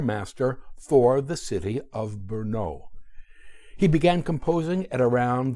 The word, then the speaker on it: Brno: At 11, he received a scholarship to attend the Queen's Monastery and School in the city of Brno, B-R-N-O, pronounced Brno, the largest city in Moravia.